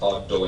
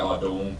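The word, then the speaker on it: Ardougne: It despite what it's spelled, it is actually pronounced Ardo.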